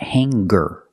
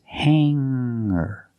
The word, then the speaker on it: hanger: clothes on a hanger remember hanger does not have a hard sound it's not hangar it's hanger make the sound in